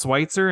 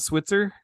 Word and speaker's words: Switzer: if it's true so it's pronounced Schweitzer and not Switzer it is it's okay